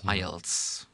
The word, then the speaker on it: IELTS: to the toefl which is called called ielts ielts you pronounce it that way and there again you